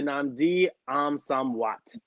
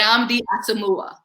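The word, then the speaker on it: Nnamdi Asomugha: But shout out to Namdi Amsamwat. He used to play in the NFL Hey, for hey. 9 years. Played in the Nam, NFL. wait. What? Namdi Asamoah.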